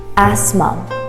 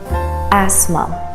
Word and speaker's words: asthma: word is asthma asthma the th is not pronounced asthma my cat always has